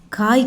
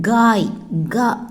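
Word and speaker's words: गाय: காய் கிடையாது, காய். ஜிஏ ப்ரொனவுன்சியேஷன், காய்.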